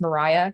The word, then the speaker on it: Maria: My name does not have an H at the end. That's pronounced Mariah.